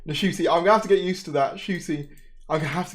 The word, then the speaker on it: Ncuti: and Russell have, I keep saying it wrong, Ncuti, I'm going to have to get used to that, Ncuti, I'm going to have to get used to saying the name correctly.